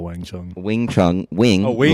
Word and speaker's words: Wing Chun: It's WangChung. Right, that's wrong. That's not how you spell it. No, Okay. How do you actually spell Wang Chung? Wing Chun, wing, Oh, Wing like Chun, the yes.